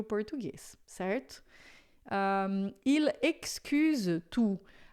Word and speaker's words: excuse: Il excuse tout. Atenção com essa pronúncia do X, porque em francês é sempre som de xi. Il excuse tout. Não é excuse, tá? Il excuse.